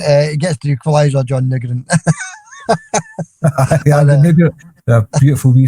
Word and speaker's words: Nygren: Where's the U comfy in Nygren? It might be Nygren, it might be Nygren. It certainly isn't Nugren. Well, Nygren, he gets the equaliser, John Nygren.